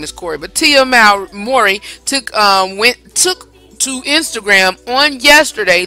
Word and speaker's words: Mowry: To pronounce her name is Mowry.